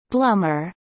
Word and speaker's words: Blommer: been family-owned ever since the family and company name is pronounced bloomer the factory in the